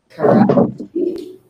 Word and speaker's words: Karachi: She went to University of Karachi. Is that correct pronunciation?